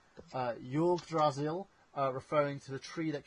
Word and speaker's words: Yggdrasil: The computer network in Valhalla base is named, excuse me for getting this wrong, Yggdrasil, referring to the tree that connected the 9 worlds of Norse cosmology. Yggdrasil? It's pronounced Yggdrasil.